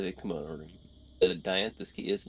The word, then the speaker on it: dianthus: the the dianthus key i called it d'anthus last time and then while i was editing i looked up the pronunciation because i was curious i vaguely remember where the dianthus door was if you